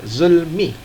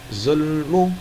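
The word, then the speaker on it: ظلم: Jar Zulmi adalah majrur yang dibacanya Zulmi him bukan zonum atau zulma Kenapa dibaca Zulmi karena diawali dengan huruf Jar yaitu big Hai contoh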